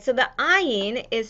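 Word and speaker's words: עין: that was silent nice so iron and olive sound the same historically not every uh dialect pronounce pronounced in the same as aleph so ein used to be more like guttural sounds like iron so some scholars will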